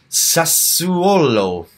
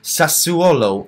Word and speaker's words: Sassuolo: you should look it up and try and pronounce it sir swallow knew so Bologna Anil Sassuolo knew Inter Milan and Lazio again later on